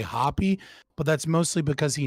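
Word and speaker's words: Hoppe: So, you said his the way to pronounce the name is Hoa, not hop. I always say it hop. It's it's Hoa, unless you're watching Dr. Walter Block and he'll say Hoppy, but that's mostly because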